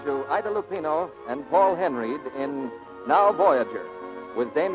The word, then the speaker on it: Henreid: He pronounces his name Paul Henreid.